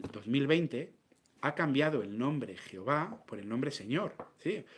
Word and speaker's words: Jehová: Y ahora alguno dirá, no, la pronunciación es Yahvé. No, la pronunciación es Jehová.